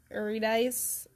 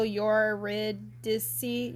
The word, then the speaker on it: Eurydice: in Greek myth also how does everyone pronounce Yuri dice I tend to go your red disti eurydice I just I say dice so I can't help but say dice but it's probably eurydice they keep giving little